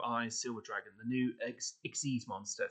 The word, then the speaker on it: Xyz: Silver Dragon the new ex monster some people say XYZ it's ex people I think they do pronounce it that way in z um or